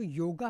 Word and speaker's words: योग: यस, हम्म, ये जो योगा है वो वेस्टर्न वर्ल्ड ने निकाला है, हाँ। बिकॉज उनको प्रोनाउंस करने नहीं आता था। हम्म, सो दे यूज to talk like योगा योगा। हम्म, नो, इट्स नॉट योगा, इट्स योग।